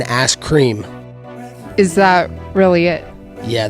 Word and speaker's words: Askren: Ben Askren. You said it wrong. It's Ben Askren.